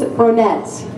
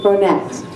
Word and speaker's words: Bronett: Her name is Frances Bronett. Many of you might think that, oh, you're pronouncing that wrong, as I often do many words, but it's not Bronet, it's Bronett.